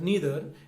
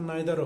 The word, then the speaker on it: neither: ইফ I cannot carry forests on my back নিদার ক্যান you crack a নাট, এখানে দেখবে NEITHER, নিদার, এটা দুটো উচ্চারণ হয়, নিদারও হয় আর নাইদারও হয়, যাই হোক একটা বললে আমাদের হবে।